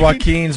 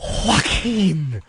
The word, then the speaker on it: Joaquin: Oh, Joaquin. Oh. Anybody with a silent J in the beginning of their name is going to stink.